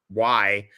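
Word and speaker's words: Székely: is Edmund Bordo Zeke, even though his name is spelt Zekely. It's actually pronounced Zeke.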